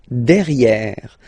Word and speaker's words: derrière: So if you look carefully, you've got E here and then double R, so it will open the sound of this E, and you should pronounce it E, okay? Derrière. Same thing here, you've got this E accent grave, E. Derrière, okay? Don't pronounce the final E.